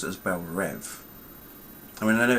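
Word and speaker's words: Belle Reve: though is that they don't pronounce it as bellrive they pronounce it as belrev I mean I know it's spelled r-e-v-e but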